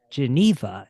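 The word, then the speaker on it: genever: He has Old Duff Geneva, and I've still never figured out what the exact proper pronunciation for the term is. But anyways, Freeland has Geneva. Is that how you guys actually call? It is.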